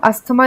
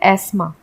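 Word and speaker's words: asthma: Actually में क्या होता है, इसे अस्थमा को हम अस्थमा नहीं बोलते इंग्लिश में, हम इसे बोलते हैं एस्मा। इसे हम हेयर नहीं बोलते, इसे हम बोलते हैं एयर, क्योंकि इसमें एच साइलेंट है और अस्थमा में टीएच साइलेंट है, तो ये एस्मा हो गया।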